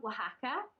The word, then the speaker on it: Oaxaca: restaurants that is called Oaxaca but it's spelled w-a-h-a-c-a so it's like it's not the spelling it's so that we in the UK can pronounce it which my partner finds